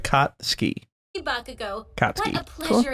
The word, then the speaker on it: Katsuki: His name is Katsuki. I've been saying it wrong. Ah, nice. It's like Katsuki.